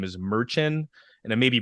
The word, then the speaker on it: Merchan: believe his name is Merchant and it may be mispronouncing that it's basically Merchant without the T at the end I had to write